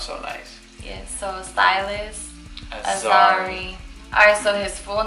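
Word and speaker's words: Siylas: So his first name is Silas, and we're going to spell it as S-I-Y-L-A-S.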